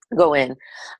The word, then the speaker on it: Gawain: There's a book called Living in the Light by Shakti Gawain. Gawain, is that how her name is pronounced? Wayne, yeah. Gawain.